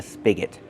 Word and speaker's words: spigot: Use a short sound like this. Is spig. Spigot. And the next syllable is not stressed. So it's awah. G spigot.